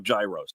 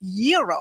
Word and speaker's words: gyro: in line at Papa Gyros I order the gyro Supreme suddenly the lady behind me chimes in it's pronounced Euro then the fell behind her says it's a gyro I turn my back